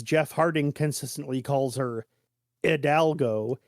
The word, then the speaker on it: Hidalgo: Harding consistently calls her Hidalgo he never pronounces the H on her name but um uh there's